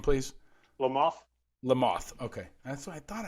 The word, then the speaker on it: Lamothe: episode with dan lamothe did i say it right lamothe le mans like the bug like the bug there